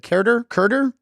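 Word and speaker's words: Keider: Is it Kerder? Montero. What? Kiter Montero. It is. Kyder kinda, Montero.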